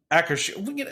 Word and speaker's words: Akershus: Doing Akershus, right? Trevor, that's how you say it correctly? Akershus.